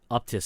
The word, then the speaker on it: Uptis: Because if you want, just real quick, Joe, just Google Michelin Uptis. It's UPTIS. Uptis, I think is how you pronounce it.